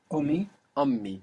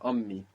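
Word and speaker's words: أمي: so om means mother how do you say my mother ony and there's two M's here ony on me yeah ony my mother's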